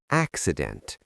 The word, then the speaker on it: accident: Pronunciation tip, accident. The C sounds like K and S.